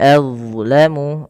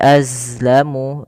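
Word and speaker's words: أَظْلَمُ: Waman adlamu. Nah, kemudian pada lafal huruf d hati-hati teman-teman jangan menggantinya dengan huruf zai gitu ya. Waman azlamu dia bukan az tapi ya ad aibil ya tebalkan adlamu waman adlamu mimman mana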